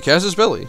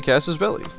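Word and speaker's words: casus belli: of course there are people in the comments saying like it's quesas belli why do you pronounce it that way to which I say yeah you're probably right Kellan can we not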